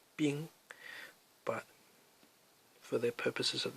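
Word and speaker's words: 兵: This is pronounced bing.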